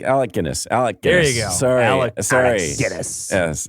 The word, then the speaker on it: Alec Guinness: look at that bridge you say Alex Guinness isn't it Alec Alec Guinness Alec Guinness sorry Guinness